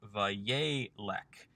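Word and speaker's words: וַיֵּלֶךְ: Instead of yelek, we have vayelek. with the second seirei also becoming a segol under the lamed. Again, the Wayyiqtol form shifts the accent from the last syllable back to the second to last syllable in these shorter forms,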